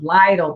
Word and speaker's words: Lytle: Did learn how to pronounce the town name of Lytle, Texas, not Little Texas, Lytle.